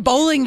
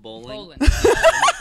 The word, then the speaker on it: Bolin: And when we started, remember I couldn't say my name. I'd say bowling. Bolin. Sure, it's Bolin. I'm like, Bolin. so Bolin's coming. Bolin's, and they're like, it's Bolin.